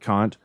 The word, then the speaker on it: Kant: So this is my argument, Kant. I'm just saying that polite in case there's kids at home, because his name's pronounced Kant, and it's Hegel.